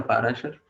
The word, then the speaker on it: पराशर: स्मृति में लिखा गया है, महर्षि या ऋषि पाराशर द्वारा, क्वालिटीज ऑफ गॉड, देवतुल्य लोगों की क्वालिटीज। ओके, पराशर या पाराशर, पराशर। ओके, तो हम क्या करते हैं, गीता मैम को एक बार प्रोनाउंस करने का मौका देते हैं।